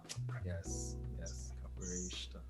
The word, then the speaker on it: capoeirista: Yes, capoeirista. Right, that's the part of the pronunciation I didn't get the first time.